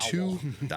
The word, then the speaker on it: Dowdle: That's the Dowdle, last name, Dowdle?